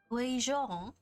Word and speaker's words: Guizhong: Guizhong?